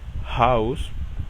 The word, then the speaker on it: Haus: Un ejemplo de palabras donde se pronuncia es, por ejemplo, hallo, hola, Haus, casa, Haustier, que significa mascota.